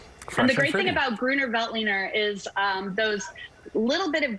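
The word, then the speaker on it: Grüner Veltliner: This is a Gruner Veltliner.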